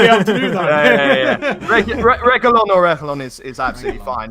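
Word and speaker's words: Reguilón: Listen, you're not going to be able to pronounce it in the proper Spanish way. So in the Englishy, Spanglish sort of accent, Reguilon is fine.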